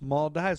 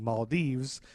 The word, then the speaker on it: Maldives: back yeah and then I found 7,000 pronunciations saying maldiv I found a YouTube